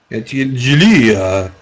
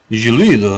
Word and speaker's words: Guillead: Ah, G like in Guillermo. Guillermo. That's better. So like Guillermo. Guillead. Guillead.